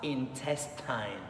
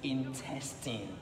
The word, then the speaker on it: intestine: the internet or in classroom, even biology teachers, pronouncing this word as intestine, intestine. They think that the E sound here is a diphthong, but no, the correct pronunciation of this word is intestine, intestine, not intestine.